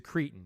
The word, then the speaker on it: Cretton: He's a cretin, you mean? Cretin. You pronounce it cretin.